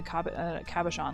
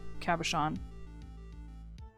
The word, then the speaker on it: cabochon: Though I don't think I've ever seen a diamond cut in a cabochon like that.